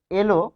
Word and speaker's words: এল: হসন্ত দিলেই হয়ে যাচ্ছে তারপর দেখুন যে এলো এটি কিভাবে এলো এটির মধ্যে কেন ওকার হলো এলো। সে বাসায় এলো। সে বাসায় এলো। তাহলে সে বাসায় এলো যখন আমরা বলছি তখন এখানে কি হচ্ছে? উচ্চারণে কিন্তু এ ঠিক থাকছে আর লো চলে আসছে তাহলে এ কিন্তু এখানে পরিবর্তন হচ্ছে না ক্রিয়াপদের ক্ষেত্রে দেখুন সে ভাষায় এল এখানে ক্রিয়াপদ হিসেবে কাজ করছে তাহলে স্বাভাবিক উচ্চারণে আমরা পাচ্ছি ক্রিয়াপদের অন্ত অ ও ও হয় এটির নিয়মটা হচ্ছে ক্রিয়াপদের